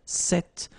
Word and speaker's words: cette: So it's quite interesting because if you listen carefully, the masculine form here, cette, and the feminine form here, cette, you write them differently, but then you pronounce them the same way.